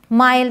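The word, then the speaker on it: mild: भी वर्ड्स हैं kind माइल्ड इसे किंड और मिल्ड नहीं पढ़ेंगे काइंड माइल्ड ग्राइंड वाइल्ड तो एक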